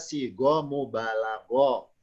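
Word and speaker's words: صيغة مبالغة: Namanya sigotun mubalagotun, bacanya sigo mubalago.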